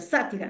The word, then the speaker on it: sátira: Acento ortográfico o tilde en la A porque es esdrújula, sátira, ¿no?